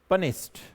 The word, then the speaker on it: punished: पनिश्ड, पनिश्ड भी नहीं बोला जाता है, ध्यान रखना इन प्रोनाउंसिएशन।